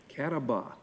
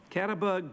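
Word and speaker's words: Catawba: golf on the cat I gotta pronounce this right cat off c-a-t-a-w-b-a Kataba Kataba golf men's team she's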